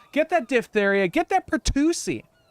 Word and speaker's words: pertussis: That's pertussis. One of the few words that has an SSIS at the end of it and is pronounced like chassis. It's chassis and pertussis.